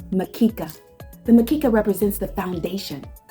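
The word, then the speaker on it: mkeka: The bamboo mat pronounced makika.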